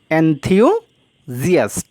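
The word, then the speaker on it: enthusiast: এনথিউজিয়াস্ট উচ্চারণটি অনেকেই ভুল করো, তো সঠিক উচ্চারণটা হচ্ছে কি? এনথিউজিয়াস্ট।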